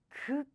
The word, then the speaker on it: 극장: So naturally, the next pronunciation sounds stronger. Air is coming out strongly. Air burst. Just like 짱. 짱. So 극장, 극장, theater.